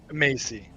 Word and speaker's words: Macy: Is it Maxi or Mike C? Macy. Macy. Okay. Macy. I apologize. It's like Lacey, but Macy.